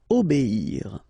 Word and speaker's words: obéir: O, B, and after that you get the ir, okay? Obéir.